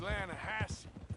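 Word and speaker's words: Lannahechee: wrote down to the Lana Hetchy River I caught some beautiful steelhead trout you mean Atlanta no no the Lana hacci it runs right near here yeah but it's pronounced Lana Hass why is everything in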